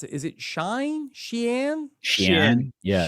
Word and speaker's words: Shein: I'm not sure how to pronounce it. Is it Shein? Yeah. Shin. Shein.